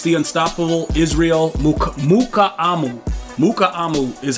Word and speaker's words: Mukuamu: Mukuamu is how you pronounce it.